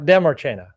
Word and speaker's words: Demarchena: I've been working with this guy for many, many years, and I'm finally going to pronounce his name exactly right. David Demarchena. Demarchena. Yep. Demarchena.